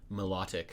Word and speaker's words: Milotic: said melodic so melodic Milotic honestly some people probably pronounce Milotic malotic yeah I've heard people pronounce it melodic how do you pronounce